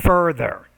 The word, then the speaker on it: further: Okay, that word further. So he gives two examples to further illustrate the idea. So you didn't quite pronounce that TH sound clearly.